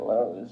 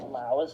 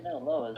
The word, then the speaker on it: Lowe's: My friend pronouncing it Laos the other day, saying she wanted to get a job at Laos, and I was like, what are you talking about?